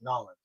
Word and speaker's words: New Orleans: That's how they say it in the South, Nolans.